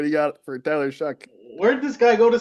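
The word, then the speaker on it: Shough: Is it Tyler Show or Tyler Shaw? Shuck. Shuck. I Tyler think it's Okay. Shuck. pronounced Shuck.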